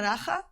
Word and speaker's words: Dagga: Daga realment es pronuncia Daja, que és una paraula africana que és Maria.